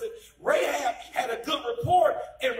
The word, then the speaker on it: Rahab: they met ray chad ray had rachel ever pronounced it rahab had a good report and regardless of what